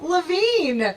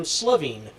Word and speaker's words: Levine: I said to the crowd, my name is Samm Levine, not Samm Slavine.